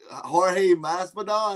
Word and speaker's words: Jorge Masvidal: Yeah, Jorge Masvidal.